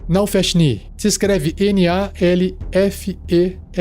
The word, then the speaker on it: Nalfeshnee: Por fim, o último demônio do cast de hoje é o Nalfeshni. Nalfeshni. Se escreve N-A-L-F-E-S-H-N-E-E.